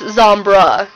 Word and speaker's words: Zombres: So it's Zombra, you know, no ES sort of sound at the end, but that's, you know, splitting hairs at this point.